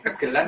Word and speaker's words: gegelan: Bacanya benar gegelan ya Mas? Gegelan atau gegelan? Sama aja keduanya, kegelan atau gegelan sama.